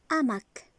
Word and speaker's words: hamac: On a dit H ne fait aucun son. On ne va pas la prononcer. Donc, on ne dit pas un hamac, on ne fait pas la liaison. On ne va pas rattacher le N de 1 à la lettre A.